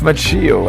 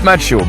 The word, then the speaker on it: Macchio: Yeah, I used to say Ralph Macchio, and I get so much heat in your comments. Guys, this is what you get when a Frenchman tries to pronounce the name of an Italiano-American actor. Anyway, Ralph Macchio. Better?